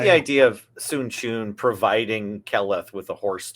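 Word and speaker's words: Sun Quan: And then the second one is Sun Chun, which is spelled Sunquan, which is a 6 mana 4/4 in blue that has horsemanship and gives everything else horsemanship.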